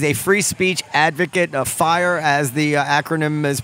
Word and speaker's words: FIRE: but he is a free speech advocate of fire as the acronym is pronounced they are literally the group on the